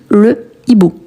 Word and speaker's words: hibou: Non, hibou, c'est un H aspiré. Donc, quand on a un H aspiré, on ne peut pas utiliser le L apostrophe. Donc, on dit le hibou.